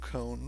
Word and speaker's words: Koan: and we do and I think it's pronounced cone right it's that looks like cone so I just want